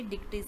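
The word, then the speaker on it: Dictys: और यहाँ पे डिक्टीज, इसे डिक्टीज पढ़ना है।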